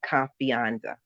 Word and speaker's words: confianza: Confianza. Confianza. Confianza. CO, right, CON, F as in Frank, IANZA. Confianza. Oh, like fiance, almost kind of.